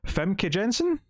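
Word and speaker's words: Famke Janssen: butchering her name here because i see it femke jensen oh okay yeah yeah that's how you say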